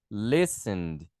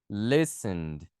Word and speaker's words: listened: Por exemplo, listen. Listen. Então, você vai pronunciar com ED também. Com só o D, na verdade, né? Listened. Listened.